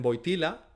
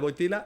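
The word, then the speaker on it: Wojtyła: Y Boitigua, pues dicho dicho por los italianos que dicen boitila se parece a la palabra italiana botila, que significa botella, o sea, se parece mucho, ¿no? En el cardenal Boitila y botella en italiano se dice botila.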